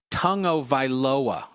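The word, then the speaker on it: Tagovailoa: It's actually pronounced Tungovailoa.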